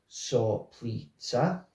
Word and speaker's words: Soplica: It is pronounced Soplica.